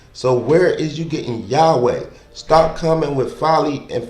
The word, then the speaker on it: Yahweh: It's Yah, ha, wah.